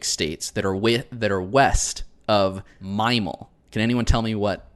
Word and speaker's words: MIMAL: So western in this context means 17 specific states that are west of Mimal. Can anyone tell me what Mimal is or what that means? God, dude. You're mispronouncing mammal.